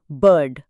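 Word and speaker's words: bird: आर कंट्रोलोल्ड sound का सबसे अच्छा एग्जांपल है बर्ड। यहां आई की आवाज ना ए है ना आई। आर की वजह से यह एक बिल्कुल नई साउंड अर बन जाती है।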